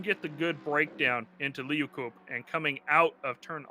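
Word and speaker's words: Leeukop: Turn 10, is it Liukop? Liukop, yeah, Liukop. Okay, so yeah, Liukop, so Liukop. You know, I mean, if you can get the good breakdown into Liukop and coming out of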